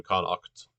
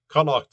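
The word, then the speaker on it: Connacht: are in connect uh connect is spelled uh c-o-n-n-a-g-h-t or c no wait no uh c-o-n-n-a-c-h-t right uh that you know that that in irish that sound is written as uh the the her sound is written as ch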